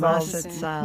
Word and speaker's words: Mazatzal: Mazatzal's the mad as hells. Yeah, The Mazatzal. Mazatzal.